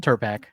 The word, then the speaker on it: Turpak: Turpak.